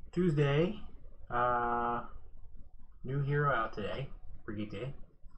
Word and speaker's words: Brigitte: So, Tuesday, new hero out today, Brigitte. Probably pronouncing it completely wrong. At least I'm not saying Bridget.